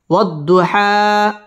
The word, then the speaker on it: والضحى: واو ضاد زبر وض ضاد পেশ দু وض حا খারা জবর হা والضحى ওয়াও ঠোঁট গোল করে উচ্চারণ করব ওয়াদ দত তাসদীদ ওয়ালা